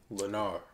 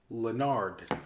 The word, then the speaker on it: Lenarr: Lenarr? Lenarr? No, it's Lenarr. Lenard.